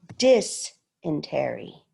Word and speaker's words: dysentery: The dis is in all caps. So dysentery.